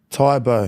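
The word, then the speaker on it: Tae Bo: So, have you ever heard of I don't even know if I'm going to pronounce it properly. Taibo. Tybo.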